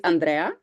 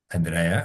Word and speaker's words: Andrea: name is check and uh how can I pronounce it correctly Andre my name yeah okay so you want to say check it's Andrea Andrea okay and Oh you mean oh yes sorry